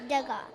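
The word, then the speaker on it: Degas: to pronounce it right the s is silent um it says uh where is it oh this is okay uh facts about the god to god is pronounced douga de gaulle would invite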